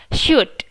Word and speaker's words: should: So the correct pronunciation is should gitu ya. L-nya nggak usah dibaca, O juga nggak dibaca.